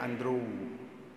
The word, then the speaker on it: Andre: antara tulisan dengan ucapan itu berbeda tulisannya Andre bacanya Andro kan ada begitu nah jadi yang